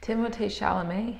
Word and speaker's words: Timothée Chalamet: Timothée Chalamet, his name rhymes. There you go. If you do the French pronunciation.